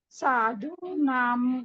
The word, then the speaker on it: साधूनां: अभी य व ल, अगर ऐसे वर्ण आते हैं तो अनुस्वार का उच्चारण य आता है तो य करना है, वो आता है तो व करना है, और ल आता है तो ल करना है।